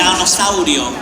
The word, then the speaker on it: Tiranosaurio: Tiranosaurio.